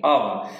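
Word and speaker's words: of: অফ ব্যবহার করে থাকি, অফ। বন্ধুরা এই অফ এর উচ্চারণে কিছু বয়ের মতো হবে, এখানে অফ এরকম হবে।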